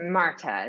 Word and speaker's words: Martha: for that spelling it's marta is it like yeah i think you would hit like a harder t yeah yeah um i